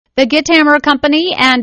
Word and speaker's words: Guitammer: Hey, first of all, tell me about, am I pronouncing your company right? Yeah, that's close enough. Okay. Guitammer.